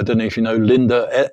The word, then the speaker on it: Linder: I don't know if you know Linda, Linder. So it's spelled Linda.